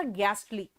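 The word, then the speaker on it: ghastly: घोस्ट घास्ट, घास्टली, है ना? ऐसे सोचो, लेकिन प्रोनाउंसिएशन इसका गैस्टली।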